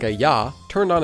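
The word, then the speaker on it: ㅑ: This vowel is pronounced ya like the ya sound in the word yan.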